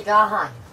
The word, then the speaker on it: Gahan: I still think it's pronounced the Gahan. The Gahan house. There's no Y, so it can't be the gay in house.